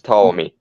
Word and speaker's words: Ptolemy: The Ptolemy, P is silent. right? Like her, It's Ptolemy.